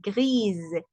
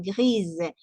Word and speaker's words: grise: Y en femenino se dice gris, como con una Z de pronunciación, gris.